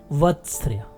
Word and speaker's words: वत्स्र: स्वर का उच्चारण होगा, तथा बिना स्वर के उच्चारण किए ही मसूड़े का स्पर्श करेगी, जिससे स उच्चारित होगा। यहाँ भी स्वर का उच्चारण नहीं होगा। मसूड़े के तुरंत बाद कंपन जात व्यंजन अर्थात र का उच्चारण होगा, तथा अंत में अर्ध स्वर य का उच्चारण होगा। तो इस प्रकार उच्चारण हुआ वत्स्र।